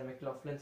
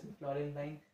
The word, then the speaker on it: McLaughlin: Some pronounces are McLaughlin's and some pronounce it as McLaurin line.